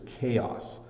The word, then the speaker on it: chaos: pronounce I think um it's a challenge right to remember when a CH makes a k sound like a c uh and when it makes the other sound which is a CH so this is chaos